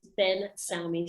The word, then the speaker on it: Ben Salmi: listening to this uh attitude my surname is ben sammy so it's spelled b e n n phenomenon space no